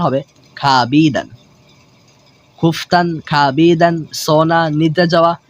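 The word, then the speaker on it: خوابیدن: শুধু এতটুকু জেনে রাখুন যে এখানে ওয়ার উচ্চারণটা হবে না, শুধু আলিফের উচ্চারণটা হবে।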